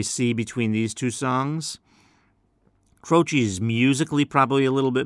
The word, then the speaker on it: Croce: And again, his last name is spelled C-R-O-C-E. Even though it's pronounced Croce, it's C-R-O-C-E.